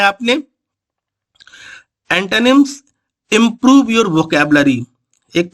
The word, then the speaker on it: antonyms: एंटोनिम्स बोलते हैं लोग, जबकि इसका करेक्ट प्रोनाउंसिएशन है एंटोनिम्स।